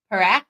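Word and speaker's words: Parekh: Um, has been brought up from the OHL, Perak.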